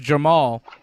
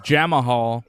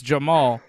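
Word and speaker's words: Jamahal: j-m-a-h-a-l and it's pronounced jamal i thought it was jama hall but it's not it's jamal and he's fighting osp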